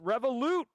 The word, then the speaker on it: Revolut: um oh my God it's pronounced revolute no James McQueen I know it's revolute I know it's revolute